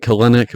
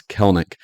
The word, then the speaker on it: Kelenic: Looks like Kelenic, but it's Kelenic.